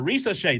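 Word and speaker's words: Risacher: Ricochet. Did I say it right? Right. Yeah. Ricochet.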